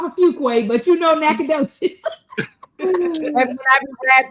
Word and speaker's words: Nacogdoches: Nacogdoches. Say it again, D. Nacogdoches. All right, D, you got it. You have redeemed yourself on tonight. You don't know you live off of Fuqua, but you know Nacogdoches.